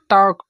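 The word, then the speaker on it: talk: दूसरा के से पहले तो के से पहले टक टॉक मीस होता है बात करना वक मीस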